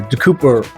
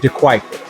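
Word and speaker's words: De Kuyper: And they got mad that I called De Kuiper or De Cooper. I called it De Cooper and I called it Schnapps. And they were adamant that it's pronounced Schnapps and that the brand is De Kuiper.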